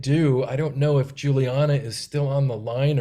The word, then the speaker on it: Juliana: can see see us easier all right so Juliana uh am I saying it right am I